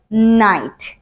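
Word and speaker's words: knight: আমরা বলে থাকি নাইট সো এখানে এই কেটাও কিন্তু এজ ইউজুয়াল সাইলেন্ট সো আমরা এটাকে বলতে পারি সিম্পলি নাইট তারপর আমাদের জন্য আছে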